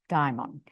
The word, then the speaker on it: daimon: The daimon states, and it's spelled like demon, but it's pronounced daimon.